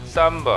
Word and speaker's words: 삼보: 홀을 합쳐서 쌈 보입니다 원어민 발음은 액센트가 없는 오는 4로 바로 맘으로 쌈바 하라고 합니다 삼보는 러시아의 전시된 후